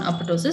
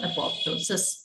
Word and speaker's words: apoptosis: a uh McQ on apotosis so we will see in detail what is this apotosis or apoptosis okay you can pronounce it either way apoptosis okay so uh